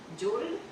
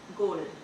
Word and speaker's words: gold: लेकिन अगर मैं बोलूँ GOLD तो क्या बनता है? जोल्ड नहीं, गोल्ड। GOLD गोल्ड।